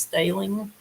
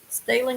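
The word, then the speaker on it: Stehling: is mitchell del stelling possibly pronounced stalin m-s-t-e-h-l-i-n-g he went missing in mesa verde national park on june the 9th 2019.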